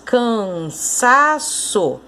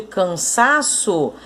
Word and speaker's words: cansaço: Você conseguiu perceber que o sa é a sílaba tônica, a sílaba mais forte dessa palavra?